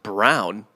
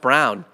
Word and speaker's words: Braun: and this is annoying pronounced brown it looks like braun yeah pronounced brown a junior at kansas